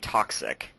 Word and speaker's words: Toczik: name again lightning based DJ toxic and that is to CZ i k wow that's a long